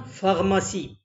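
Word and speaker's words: pharmacie: طبعا ال PH اتنطقت F، قلنا فارماسي.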